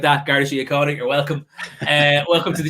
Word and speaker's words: Garda Síochána: How do you pronounce Garda Síochána? Exactly like that, Garda Síochána.